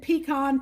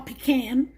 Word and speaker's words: pecan: and that's good old-fashioned pecan pie, or pecan, however you want to pronounce it.